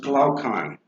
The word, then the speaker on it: Glaucon: Um, this person, Glaucon, uh, that is pronounced Glaucon.